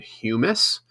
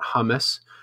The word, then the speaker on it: humus: So, and then once these living things decompose, they form what's called humus. That's important to pronounce correctly. It's not hummus.